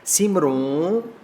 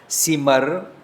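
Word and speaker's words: ਸਿਮਰਉ: सिमरो, सिमर, सिमर सुख पावूं, मैं सुख पाउंदा हाँ। जदों मैं सिमरदा हाँ तां मैं सुख पाउंदा हाँ। सिमरों, सो असी उच्चारण नहीं करेंगे। सिमरो, सिमरो होता है दूसरे को कहना।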